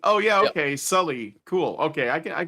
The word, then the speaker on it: Salih: Yeah, I we pronounce it as Sully, like the guy off of Monsters, Inc. Oh, Sully. Oh, yeah. Okay. Sully.